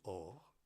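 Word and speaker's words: אור: Peau en hébreu, ça se dit or. Et il y a un autre mot en hébreu aussi qui se dit or. La première lettre est juste un peu différente, mais la prononciation est la même.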